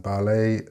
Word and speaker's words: ballet: Again, with valet and ballet, there is no T.